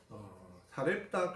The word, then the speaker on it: 사렙다: 그것은 구약은 히브리어로 기록됐기 때문에 히브리 발음이 살파시고 신약은 헬라어로 기록이 되는데 헬라어 발음이 사렙다입니다.